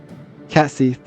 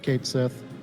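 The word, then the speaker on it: Cait Sith: Cat Seth. Did I say it right? Ju just just go with Kate Sith. Everyone pronounces it Kate Sith.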